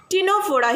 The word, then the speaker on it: Ctenophora: Now we are proceeding to the next phylum, that is the phylum Ctenophora. Here also C is silent.